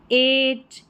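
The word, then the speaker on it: eight: चलिए ई आई जी एच 26 पर है। इसको ए करके पढ़ा जा रहा है। ए जैसे कि एट इ आई जी एच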